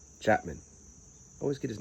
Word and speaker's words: Chapman: Clay Mloud Chaplain. Chapman. I always get his name wrong.